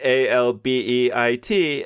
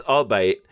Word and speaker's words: albeit: had um once and the professor pronounced the word a l Bei t as all bite and you know it should be albeit right but the fact